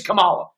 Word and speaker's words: Kamala: in their face i don't care her name's kamala that's it right but you see what they're